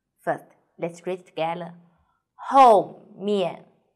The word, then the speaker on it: 后面: 后面, 后面, 和 O, pay attention, here is O and U, O, O, U, O.